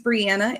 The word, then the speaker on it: Brianna: So, my name's Brianna. It rhymes with Indiana.